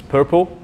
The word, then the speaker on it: PRPL: So quite recently they have come up with this PRPL abbreviation, which they pronounce as PURPL, which is short for push, render, pre-cache, and lazy load.